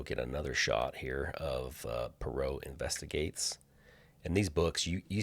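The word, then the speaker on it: Poirot: Title is, I think you pronounce that, Perau. Perau Investigates.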